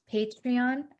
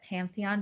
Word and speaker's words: Patreon: start like having a patreon i think i said it wrong i don't know i always saw it pantheon but it's patreon account um so look